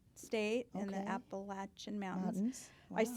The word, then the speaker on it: Appalachian: say Appalachian because everybody here says Appalachian, but they say it's Appalachian. Oh, wow. Okay. They know best. So, so I'm just pronouncing it the way they do.